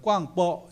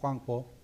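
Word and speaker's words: 广播: 중국말에는 꽝뽀 이렇게 꽝뽀. 발음이 내가 성조는 자신이 없는데, 이게 뭐냐?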